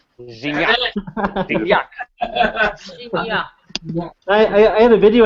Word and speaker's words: Gignac: André Pierre Gignac. Gignac.